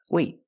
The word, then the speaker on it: wait: T sound T but what if the t is at the end of the word and before T you have a vowel then we do a stop T that means you put your tongue up in the T position position but you don't